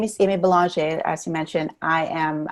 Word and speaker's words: Belanger: It's Belanger. It's French. My husband is French. So it's Belanger or Belanger. It's like, if you're not French, you can pronounce it.